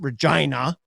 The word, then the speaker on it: Regina: We pronounce it Regina, and that's funny to people.